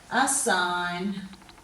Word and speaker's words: assign: And then we're going to change colours and we'll go to the silent G in these ones. So we've got sign, design, assign, nat, gnome and gnarly.